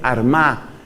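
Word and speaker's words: Armagh: sede de San Patricio, la sede de San Patricio fue Armá que se escribe con GH al final. San Patricio desde la sede de Armaque queda actualmente en Irlanda del Norte.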